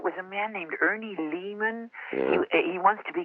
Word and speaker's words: Lehman: and so it was a man named Ernie Lehmann he wants to be called lay no his